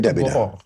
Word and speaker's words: gharar: Oh, gharar, jadi begitulah cara orang membacanya, gharar, bukan yang lain.